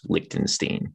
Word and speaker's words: Liechtenstein: we don't we don't there's no sh and there's no iron it's just lichtenstein that's how we say it so yeah exactly at